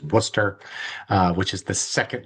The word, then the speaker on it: Worcester: Um There There's a little less than There's a lot of letters there, but it's just pronounced simply as Worcester, uh which is the second largest city in New England right behind Boston.